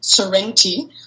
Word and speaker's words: Sorrenti: going to pronounce now an Italian surname, Sorrenti, which is easy, though, because it's like the town Sorrento, like come back to Sorrento, which is not a love song like everyone thinks.